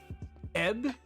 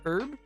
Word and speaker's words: herb: uh here's the thing we say herb where I live but we pronounce it more uh EB instead of herb e you got ebb